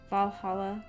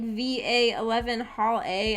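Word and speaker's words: VA-11 Hall-A: up that game and i pronounced like va 11 hall a and someone was like it's pronounced valhalla or valhalla or however it's said i was like what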